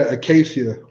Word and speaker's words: Acacia: Acacia? Yeah, Acacia.